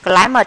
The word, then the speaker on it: climate: Climate, climate chữ y đọc là ai này.